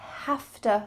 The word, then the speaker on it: hafta: I have to study English.